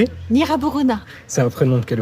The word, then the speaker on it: Gnirabourouna: Et donc vous le prononcez ? Nra Borona.